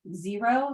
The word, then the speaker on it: Xero: the chocolate chip and there's a program called xero it's uh it's spelled with a z zero that's another competing one um and I think